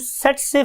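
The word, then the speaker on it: tsetse: इसे हम बोलते हैं स्टूडेंट सेट से फ्लाई। सेट से फ्लाई बिकॉज के टी is silent over here, हम टी नहीं बोलते, तो वर्ड इज सेट से फ्लाई, राइट।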